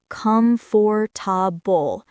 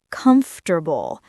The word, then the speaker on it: comfortable: What word did Anna pronounce in a strange way? Come for tabul. The word was comfortable. The natural pronunciation is comfortable.